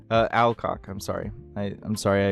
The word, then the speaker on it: Alcock: Millie Arlock. Uh Alcock, I'm sorry. I I'm sorry I butchered your name.